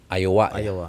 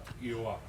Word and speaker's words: Iowa: di apa sih namanya ayowa ya Kalau enggak salah gitu a itu betul l bacanya begitu ya Iowa Iowa gitu E mega-mega itu koyal